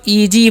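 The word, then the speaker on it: easy: देंगे तो होगा ई और एस का उचार यहां पर ज करना है ठीक है क्या करना है एस का उच्चारण ज करना है ठीक है और वाई का वन दीर्घ तो हो गया इजी क्या पढ़ते हैं इसे हम लोग इजी पढ़ते हैं और इजी मतलब क्या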